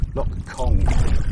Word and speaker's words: Loch Chon: Loch Kong. It's spelled Chong, but it's pronounced Kong. And I'm wild camping. I'm paddling Loch Kong, hopefully Loch Ard and Loch Venica, and maybe Loch Lugneck.